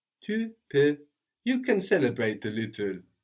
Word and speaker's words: peux: With un peu, we have P-E-U, but then with je peux, I can, we have P-E-U-X, but we don't pronounce that X. How would you say you can? Tu peux. Tu peux.